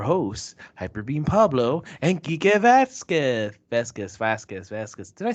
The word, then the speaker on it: Vazquez: Vasquez.